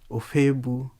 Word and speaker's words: Ofoegbu: so that you know a bit about anthony or fabu am i pronouncing your name okay very correct okay uh